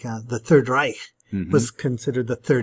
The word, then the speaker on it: Reich: the Third Reich, and a lot of kids want to pronounce it like that, but it has more of a sound. Reich.